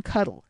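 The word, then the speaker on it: Cuttle: of man is Captain cuddle said Mrs MC Stinger with a sharp stress on the first syllable of the captain's name to take on for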